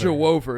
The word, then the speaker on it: Juwan: I probably could try that again and not pronounce it like it's Jew over. Why did I say it like that? Jew over. Jew over is how I think you're supposed to say that.